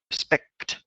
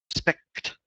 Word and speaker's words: respect: The word respect, we've got this KT combination of sounds at the end here, and it can be quite hard to pronounce it, so be careful with that one.